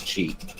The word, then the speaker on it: ki: It's What's pronounced chi. Is it really? It's a Japanese word. Interesting. Yeah. Yeah, wait, even with a K? Yep. It's, Yeah. it's either QI or KI. It's Japanese word for spirit.